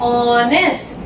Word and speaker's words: honest: यहाँ पे ह एच साइलेंट है, हम बोलते हैं ऑनेस्ट, ओ की आवाज आती है, जो आवाज आती है उस हिसाब से हमें लिखना है।